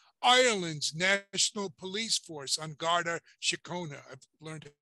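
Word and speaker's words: Garda Síochána: and border protection ireland's national police force on garda shacona i've learned how to pronounce that the united kingdom's national crime agency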